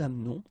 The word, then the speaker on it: amenons: Nous doesn't change, nous amenons, okay, it's a silent her here, mute, amenons. Vous amenez, exactly the same thing, you don't pronounce this e, and then here back this change, so amène.